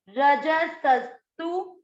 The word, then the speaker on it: रजसस्तु: तीसरा चरण र पूरा है, र में आपको अ का उच्चारण मिक्स करना है। रज, र और ज दोनों में अ मिक्स किया, रज। स और आधा स, सस्तु, रजसस्तु।